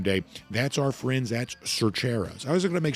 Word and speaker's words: Cercheros: My Northeast Georgia drawl every now and then wants to say Cercheros. It is not Cercheros. It is Cercheros. That's how you say it, Cercheros.